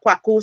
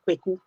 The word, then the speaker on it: Kwaku: So it's Kwaku. like you're pronouncing like A and E joined together. So Kwaku. Oh, Kwaku. Kwaku. Yeah. Brilliant. Mhm. It is important to know to respect people's names and the pronunciations. Yeah, So sure. yeah, and I did, I made sure that it was not Kweku because people make that mistake.